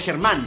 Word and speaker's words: Germán: ¿Cómo saben mi nombre es Germán? Pero en inglés se pronunciaría German, que en inglés significa alemán.